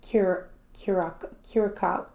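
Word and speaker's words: Curaçao: I think it's Curacao, because that's how you say the island's name.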